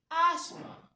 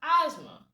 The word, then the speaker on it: asthma: So, what you're trying to say is there's no th in asthma.